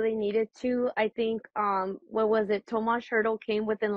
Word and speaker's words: Tomas: Tomas.